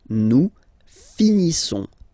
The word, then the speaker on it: finissons: Okay, I-S-S-O-N-S. Issons. Nous finissons. Finissons. Okay, final S, not pronounced.